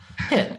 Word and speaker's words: hit: So a lot of native Spanish speakers have a hard time pronouncing the short I sound. They'll pronounce it like E. So they'll say both of these words in the same way. They'll say heat, heat.